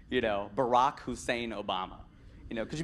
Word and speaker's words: Hussein: for him with his name, you know, Barack Hussein Obama. You know, could you be any more screwed running in the 08 election than with this name, right? Barack that rhymes with Iraq, okay? Hussein of like Saddam Hussein, okay?